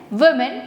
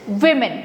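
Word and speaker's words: women: सो you have to से the right pronunciation of this word is what do यू से वुमेन। And what you have to से this? वुमेन।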